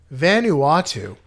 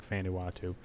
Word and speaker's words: Vanuatu: it I don't know Vanuatu see it helps if you don't say it completely wrong it says if you say it helps if you say it right it's a big Vol